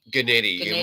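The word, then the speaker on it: Guenette: Now, the director here, Robert, how do I pronounce his name? Gennady? Gennady.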